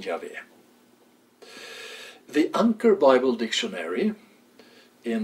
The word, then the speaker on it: Yahweh: favor of the form Yahweh. To the contrary, there is much evidence that the name of God consisted of three syllables and not two, as we have in Yahweh.